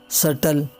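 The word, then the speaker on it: subtle: तो जब बी के बाद टी आए तो बी साइलेंट रहता है, जैसे डेट, सटल, डाउट, सटलाइज। और इसी तरह जब बी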